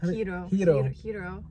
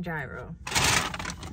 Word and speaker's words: gyro: Is it Hiro? Hiro. Hopefully you're saying it right. I know it's not gyro. That's how I used to say it.